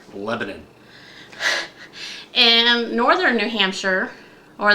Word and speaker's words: Lebanon: the same name and it's spelled the same as the country Lebanon, but it is pronounced Lebanon.